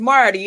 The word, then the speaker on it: Marty: Well, you know, my name is Marty and it rhymes with party.